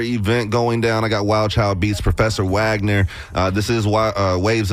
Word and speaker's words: WLDCHLDBEATZ: My personal page is Wild Child Beats. It's without the I's and a Z at the end.